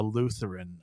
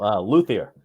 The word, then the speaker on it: luthier: I'm saying it right, a Lutheran or whatever? How do you say it? I'm saying I can't pronounce shit. What is it? A Lutherian or what do you Yeah, any of those. It's hard. No, Luthier. Luthier.